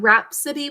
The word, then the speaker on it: rhapsody: 3 syllables. First syllable, rap. 3 sounds. We're going to use the Greek phonogram. Next phonogram, O, 2 sounds. O is in an open syllable saying its name. Finally, D-E. What usually makes an E sound at the end of a word? Krish? Yeah, E-I-E. Perfect.